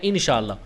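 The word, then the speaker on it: ان شاء اللہ: اور دوسرا ہے انشاءاللہ۔ اس کا تلفظ ذرا سمجھ لیں، ما الگ لفظ ہے، شاء الگ لفظ ہے اور اللہ الگ لفظ ہے۔ ایسے ہی ان الگ لفظ ہے، شاء الگ لفظ ہے اور اللہ الگ لفظ ہے۔ انشاء اللہ اور ما شاء اللہ یہ اس کا صحیح تلفظ ہے۔ بچوں کو یہ تلفظ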